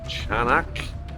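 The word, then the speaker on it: Çanakkale: And this is the little walkway street that we stayed on last night in Canakkale, I think it's pronounced, by the sea near the Dardanelles, where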